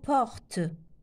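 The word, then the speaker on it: portent: porte E لا ينطق نقولش لا أقول porte non نقول porte هذا لو او لا ينطق.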